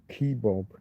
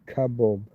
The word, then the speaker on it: kebab: The whole kebab thing though that's that's a North American thing. Kebab. Kbob keob. North American heavily influenced by Persian and Armenian pronunciations which often turn the final a sound into an O.